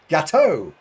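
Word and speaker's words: gâteau: No, it's pronounced Gateau. I shall know now. It's a Gateau.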